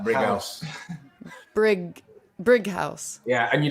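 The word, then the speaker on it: Brighouse: But not brick with a C. No, with a G. It's like brig. Like a really harsh G. Brig. Like Brig House.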